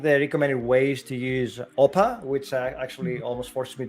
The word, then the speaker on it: OPA: castle degree culture where oppa is the thing that we say when we uh uh our open policy feeling very joyous yeah so open sorry open policies more greek with the acronym pronounced oppa which is very weird